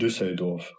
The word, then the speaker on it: Düsseldorf: Düsseldorf.